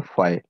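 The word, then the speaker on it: phi: हाँ, इसको बोलते हैं फाई, पी एच, शायद यही स्पेलिंग होती है, फाई, पी एच वाई, फाई।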